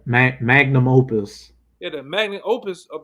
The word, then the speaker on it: magnum opus: Oh, how you say it? Magnus Opus. Yeah, magnum opus.